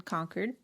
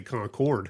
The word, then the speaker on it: Concord: And we ended up staying a night over in conquered. Yeah. It it looks like Concord, but that is not how you say it. Do not say Concord.